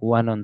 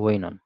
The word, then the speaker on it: Oenone: ওয়ানন ছিল। ঠিক আছে? ওয়াইনন ছিল, ওয়াইনন। উচ্চারণটা হলো ওয়াইনন। OENONE, ওয়াইনন।